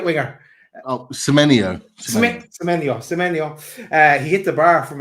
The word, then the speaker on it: Semenyo: How do you pronounce his name? Semyon, the right winger. Semenyo.